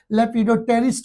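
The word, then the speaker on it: lepidopterist: जो होते हैं लेपिडोप्रेट लेपिडो टी साइलेंट हो जाता है। लेपिडोटेरिस्ट होते हैं।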